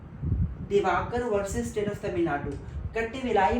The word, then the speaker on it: Kattavellai: versus state of Tamil Nadu cut villi मैं इसे pronounce कर रहा हूं के A double T ए वी ई double L इ आई cut villi Diwakar versus